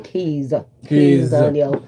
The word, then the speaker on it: Kizz Daniel: Sorry, Kizz Daniel.